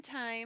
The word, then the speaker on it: Thyme: Mountain Time. But it's spelled Thyme.